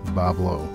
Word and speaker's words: Bois Blanc: but Islanders don't care they just ignore the spelling and casually say it their way Bob Lowe and that's kind of how it is on Bob Lowe Island they don't care